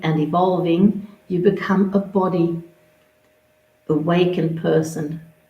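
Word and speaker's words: bodhi: evolving you become a body awakened person i might say body it's a sanskrit word it's spelt b-o-d-h-i not body as in our physical body continue to step into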